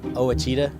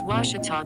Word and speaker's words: Ouachita: University back in Texas everybody pronounces it Wichita but really it's Ouachita Washington how would you pronounce it washater it's Ouachita Baptist University get it